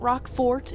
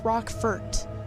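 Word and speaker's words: Rockfort Island: rockford island it's not rock fort it's not rockford i've heard it mispronounced so many times it's rock fert like with an e it's again a name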